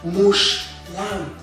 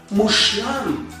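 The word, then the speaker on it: מושלם: The shva under the shin doesn't mean that the pronunciation is mu she. It's just mush, no vowel there. And with lines under the lamed, we have the word mushlam, mushlam, which means perfect.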